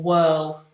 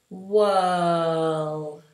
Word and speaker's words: whirl: like the wind will whirl, or you'll have a whirlpool in the water where it circles. Whirl. And look how open everything is. My tongue stays down.